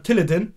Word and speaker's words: Tilidin: Der sagt nicht Tilidin, sondern Tilidin. Ja, ja, ja, Tilidin.